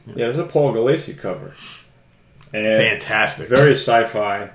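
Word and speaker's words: Paul Gulacy: Paul Galassi. Yeah. Yeah, this is a Paul Galassi cover.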